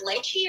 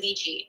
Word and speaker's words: lychee: This one's how do you say that word? Lychee or lychee? Lychee. I say it lychee.